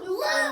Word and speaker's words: Luke: It rhymes with Duke. Luke.